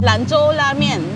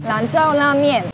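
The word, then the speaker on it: 兰州拉面: What's the authentic pronunciation for the place? Lanzhou la mian. Lanzhou la mian.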